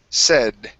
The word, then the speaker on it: said: um said okay now here instead of saying s with a long a this is a short e sound said try that okay very